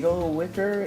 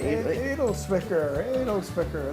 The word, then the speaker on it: Edelzwicker: Edelwicker? Edelzwicker.